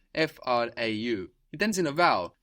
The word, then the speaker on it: Frau: Die Frau, the woman, is spelled F-R-A-U. It ends in a vowel, but it doesn't really end in a vowel sound. Die Frau. It ends in a W.